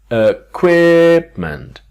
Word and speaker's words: equipment: a naughty but a quip meant so three syllables a queer meant quipment the things that are used for an activity